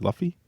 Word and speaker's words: Luffy: Luffy. Luffy. Like fluffy. Yeah. Luffy.